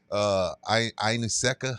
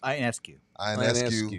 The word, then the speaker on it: Ionescu: Ineseka, is that how you say it? Ionescu. Isn't that Kobe's girl?